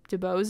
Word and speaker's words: DeBose: Ariana DeBose, I think DeBose is how you say her last name, and Joanne Pellman.